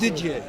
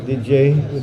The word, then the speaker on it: Didier: what d d d DJ DJ okay all right DJ has a DJ I was just informed uh is the right pronunciation didn't hit him just